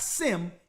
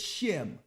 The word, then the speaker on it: Shem: it's a mix it's a mispronunciation a mispronunciation of of the sun shim it's not sim it's shim right so now let's go